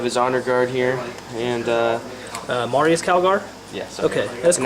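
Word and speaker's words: Marneus Calgar: And then over here we have Marinus Calgar, and we have his honor guard here, and Marius Calgar? yes, Okay, that's cool.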